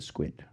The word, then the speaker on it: SQUID: It's a squid. SQID. SQ, they like squeeze the U in there and then ID.